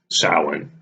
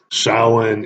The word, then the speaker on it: Samhain: did this video besides the fact that it's Salin which for you who are not in the know salhan is the proper pronunciation the Gaelic Irish Gaelic pronunciation of the